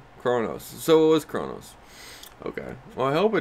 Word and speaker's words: Kronos: kronos so it was kronos okay well i hope i didn't say it wrong i said i think i say cranos yeah yeah but yeah